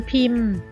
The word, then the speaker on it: พิมพ์: การันต์ นะ คะ หนังสือ พิมพ์ ราคา คำ นี้ นะ คะ เรียก ว่า พอ การันต์ นะ คะ หมาย ถึง ตัว พ. พาน ซึ่ง ไม่ ออก เสียง เพราะ มี ทัณฑฆาต กำกับ นะ คะ อนุรักษ์ กัน